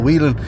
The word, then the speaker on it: Whelan: the Lions match, and both pronunciations of Daniel Whelan's name are correct. On the east coast of Ireland, we would say Daniel Whelan, but further down into the countryside, people might say Daniel Whelan, but more often